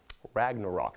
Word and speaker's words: Ragnarok: out onto some more action Thor Ragnar raggin Ragnarok that's how you say it guys was released